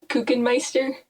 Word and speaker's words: Kukenmeister: last name it's pronounced kukenmeister oh okay like cookie monster oh oh i like